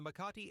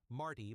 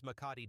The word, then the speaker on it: Makati: Number 10, the dark side of luxury apartments in the Makati area. sometimes mispronounced as Marty by tourists.